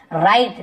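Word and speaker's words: write: राइट W silent होगा, वराइट ऐसे वन ही पढ़ेंगे, राइट बस पढ़ेंगे।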